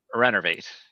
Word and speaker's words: Renervate: An 11 on Renervate.